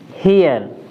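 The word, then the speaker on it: here: अ से करते हैं, जैसे एच ई आर ई। देखिए इसमें लास्ट में क्या है? ई आर ई, तो यहाँ पर उच्चारण इसका बदल गया, इसका उच्चारण क्या हो गया? हियर।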